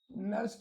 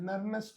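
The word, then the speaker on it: Nernst: नस्ट equation है। नर्नेस्ट equation मत बोलना। ठीक है? क्योंकि स्पेलिंग में हां नस्ट इक्वेशन बोलते हैं।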